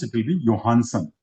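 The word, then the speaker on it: Johannsen: He worked with Punnett, and then William, again, here nothing if we pronounce it will be Johansson, not Johansson.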